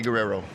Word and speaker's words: Guerrero: Guerrero like the um Eddie Guerrero, the wrestler.